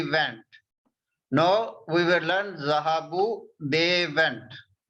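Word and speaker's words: ذهبوا: This alif we only write, but we don't pronounce this alif.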